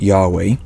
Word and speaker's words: Yahweh: yod he VAV he most scholars believe God's name was originally pronounced Yahweh for the last several